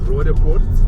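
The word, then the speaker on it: Roodepoort: So, so we're going past an area now called Rodeport. Okay. I know you won't be able to pronounce that. I'll try it. Rodeport.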